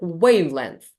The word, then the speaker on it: wavelength: on the same and wavelength wavelength so this part of the word is stressed that's why length has less significance here yeah that's how you